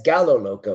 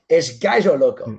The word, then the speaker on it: Gallo Loco: And he goes, Gaijo Loco. I'm like, how do you spell that? And he spelled it, and I'm like, that's Gallo Loco. He's like, you Americans. It's Gaijo Loco.